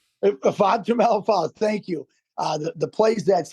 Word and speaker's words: Ifeatu Melifonwu: Our safety, I'm not going to try to pronounce his name. Ifeatu Melifonwu. Ifeatu Melifonwu, thank you.